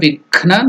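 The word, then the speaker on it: विघ्न: So together Divya Vighna Nivaranam. So that Gha is Mahaprana, not Ga. Gha.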